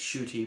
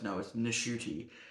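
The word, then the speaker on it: Ncuti: his name correctly, and apparently he just went by saying it's Shuti, but it's Nishuti. You have to pronounce the N in that apparently.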